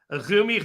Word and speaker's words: AZM: As you can see on the screen, Azumi's name is spelled A-Z-M. Yes. AZM is how it looks every time you see it written out, but it is in fact Azumi.